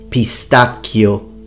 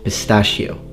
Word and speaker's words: pistacchio: Pistacchio, not pistachio.